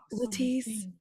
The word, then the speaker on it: Latice: It's L A T I C E. There's no R. It's invisible and silent. Doesn't exist. Latrice is cool, but she ain't me.